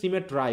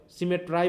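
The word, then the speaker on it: symmetry: frame দাই fearful সিমেট্রাই দেখো দেখো উচ্চারণ কিন্তু সিমেট্রি কিন্তু উচ্চারণ করতে হচ্ছে সিমেট্রাই কারণটা কি আই এর উচ্চারণ কি আই না তাইলে আমাকে রাইম মিলাতে হলে কি কি করতে হবে সিমেট্রাই বলতে হবে ফ্রেম মানে কি গঠন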